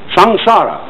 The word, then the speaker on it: samsara: is called by this important term in Sanskrit, S-A-M-S-A-R-A. Samsara, it's pronounced.